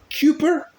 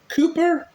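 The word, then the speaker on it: Kuiper: is from r b Cooper Cooper I think that's how it's pronounced it's k-u-i-p-e-r and our Bible reading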